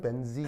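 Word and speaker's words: benzene: 자, 벤제는 일본식 발음이고 영어 영어식 발음은 벤진이에요. 알겠죠? 그래서 이제 친하면 벤젠 그다음에 이제 친 네. 친미하면 벤진 알겠죠?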